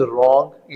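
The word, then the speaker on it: wrong: के पढ़ा नहीं जाएगा नेक्स्ट वन इज रॉन्ग यहां पे डब्लू साइलेंट है कॉम इसमें ब साइलेंट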